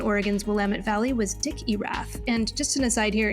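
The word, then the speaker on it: Erath: wamit Valley was Dick irra and just in aside here in case you're curious that's spelled e r a t h kind of like Earth just mooved that R up a little bit earlier so within the Oregon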